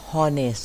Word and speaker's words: honest: คะ ไม่ อ่าน ว่า honest นะ คะ อ่าน ว่า honest ตัว H เรา จะ ไม่ ออก เสียง ออก เสียง เป็น ตัว O เลย O นะ คะ แล้ว